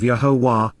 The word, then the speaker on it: Yahowah: unite says Amar promises yahwah yahwah the proper pronunciation of yahwah our eloa God has directed in his Torah